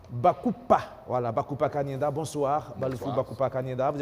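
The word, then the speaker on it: Balufu Bakupa-Kanyinda: Justement, on a sur ce plateau où il vient de nous rejoindre le cinéaste Baloufou Bakouba Kanyenda, c'est bien prononcé. Bakoupa, voilà, Bakoupa Kanyenda.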